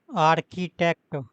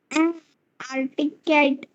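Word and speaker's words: architect: painting ह father is आर्किटेक्ट आर्किटेक्ट ह father is आर्टिकट एंड ह आरकी ए आर सी एच आई आरकी take T ई सी हां आर्किटेक्ट एंड हिज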